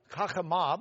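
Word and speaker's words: חכמה: There was a wise, it's chachama, because that's just the feminine ending, the H sound at the end.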